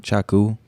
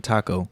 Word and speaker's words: Chaku: welcome back you know every time i say my name i'm like chaku and i'm like out like doing a gig people for some reason think i'm saying taco taco and so they're like